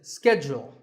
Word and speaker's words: schedule: and in the US in American English this is schedule the first syllable is SK and the second is Jewel schedule in British English it can be both schedule or schedule so you can choose the pronunciation that's right for you number 48 is the